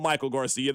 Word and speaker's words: Maikel Garcia: I'm going to call him Michael Garcia. The text line's going to try to correct me. I'll be like, "No, no, no. That's what he said. That's how we pronounce his name."